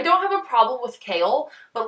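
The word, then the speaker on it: Chaol: So let's just start with saying Kale is the worst name and the best name in the entire world.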